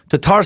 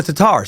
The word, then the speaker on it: Tatars: where jobs are scarce home of the Tatar or actually sometimes it's called Tatars depending on which pronunciation guide you look at the correct version seems to be - tarz years literally er the